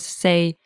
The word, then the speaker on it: 四: In Cantonese, the number 4 is say, and it sounds like the word say, which means death.